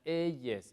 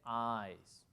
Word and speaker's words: eyes: ah significa ojos y no se pronuncia elles se dice eyes What col are your